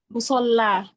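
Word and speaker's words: مصلى: Dia itu alifnya alif bengkok, apa sih? Alif maksuroh gitu. Tapi dia kalau misalnya harakat sebelum si alif bengkok itu fathah, dia dibacanya em, apa ya? Fathah, maksudnya eh, jadi 2 harakat gitu ya, musola.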